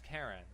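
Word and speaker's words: Keren: Karen spells her name with an E instead of an A, but nonetheless pronounces it as Karen.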